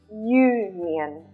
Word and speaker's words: union: is pronounced like this union you can see it starts with a consonant sound so in this case